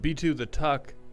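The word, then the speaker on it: B2theTuck: and B2 the Tuck. Thank you for the 45 bit cheer. It's actually pronounced B2 the tuck because my first name starts with B and my last name is Tucker.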